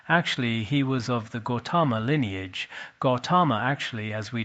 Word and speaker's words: Gautama: Gautama, in our Tibetan we call Godama, Godan de la Shangtsa Lo. Some Tibetan texts use Godan, 2 syllables. Some use Godama.